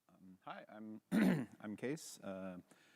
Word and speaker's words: Kees: Hi, I'm I'm Case. Uh, it's spelled funny, but it's pronounced case.